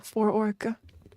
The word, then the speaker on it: Phora: Phora. Yeah, for-orc. It's like saying fork with an extra syllable.